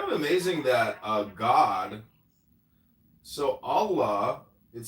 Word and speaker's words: Allah: The article the in Arabic is al, A-L. The Arabic and Semitic word for God is ilah. The God in Arabic will be Allah, pronounced Allah, or Allah, which is simply God with a capital G.